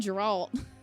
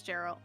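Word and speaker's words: Jeralt: Jarrell damn it yeah you've been seeing his name wrong this whole time but that's fine yeah you keep saying Geralt yeah it's Jarrell Leonie would like a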